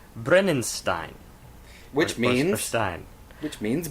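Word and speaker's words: Brennisteinn: of two singles on the record and it's pronounced brenen Stein which means Stein which means Brimstone as in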